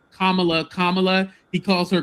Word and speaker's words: Kamala: it was going because he never called Kamla Kamala. He calls her Camala.